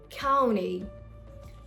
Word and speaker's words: county: Another word, county.